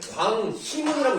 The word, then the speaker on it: 광희문: 그렇게 읽어도 되는 거고 자음을 첫 소리로 가지고 있는 의는 무조건 이로 읽어야 되는 거예요. 그래서 여러분들 광희문이라고 있어요. 광화문만 알고 있었죠? 이거는 실제 표준 발음은 광희문입니다. 왜냐면 히읗이라는 첫 소리를 가지고 있기 때문에 이렇게 읽어야 맞는 거예요.